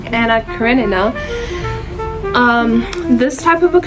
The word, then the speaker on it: Anna Karenina: Anna Karen. God, that's such horrible pronunciation, but Anna Karenina.